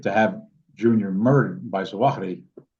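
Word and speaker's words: Zawahiri: And so the edict to have Junior murdered by Zuahi, which many people pronounce Zahiti, whatever, uh caused Junior to turn himself in and seek protection of the USA.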